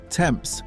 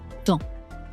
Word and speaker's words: temps: Temps, time. Both the P and the S vanish. Temps.